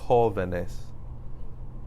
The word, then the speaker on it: jóvenes: Jóvenes. Where am I putting the stress? I'm putting it on the O, so you have to put an accent mark there.